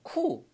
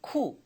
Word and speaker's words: coup: COUP인데 발음이 여러분 얘가 P가 묵음이에요. 쿱이 아니라 쿠. 다 같이 쿠.